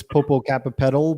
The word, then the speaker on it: Popocatépetl: And of course, I can't pronounce that volcano in Mexico, Mount Popo. Popocatépetl. Okay. In English, it's Popocatépetl, but if they hear me say that, they're like saying and that.